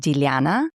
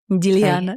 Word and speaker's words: Diliana: And it's pronounced Diliana. Diliana. It's so beautiful. Diliana. It's very soft.